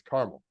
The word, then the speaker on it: Carmel: should be pronounced it's not like some odd pronunciation it's caramel now do you know what caramel is also